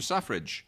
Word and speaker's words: Selfridge: Suffrage, spelled Selfridge, like self and fridge together. Oh, yeah, because But it's pronounced suffrage, as in like women's suffrage.